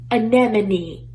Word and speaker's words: anemone: where the m is Amendment and then no anemone anemone yes Randa you actually said it right